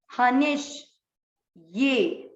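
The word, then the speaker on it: हनिष्ये: दूसरा चरण ह नी, मात्रा छोटी, आधा षटकोण वाला, हनिश ये हनिश ये। कल जैसे शब्द था वैसे य का उच्चारण, जैसे कल था प्राप्स ये, वैसे ही हनिश ये।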